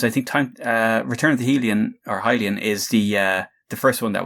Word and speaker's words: Hylian: So we have Return of the Hylian, believe that is how it's pronounced now, and Oni Link Begins and they're available for OS3 and OS4, and I presume MorphOS as well.